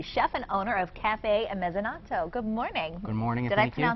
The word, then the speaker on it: Mezzanotte: He is the chef and owner of Cafe Mezzanotte. Good morning. Good morning. Did I pronounce that right?